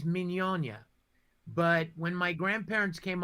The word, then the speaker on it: Mignogna: That's the actual way, is Mignogna.